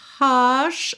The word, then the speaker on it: hush: So, hush. Olha o h aqui, hein. Hush.